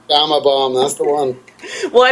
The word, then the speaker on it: Gama Bomb: Okay, so how do you pronounce it? Gamma Bomb? Gama Bomb, that's the one.